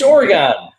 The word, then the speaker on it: Oregon: Oregon. It's Oregon.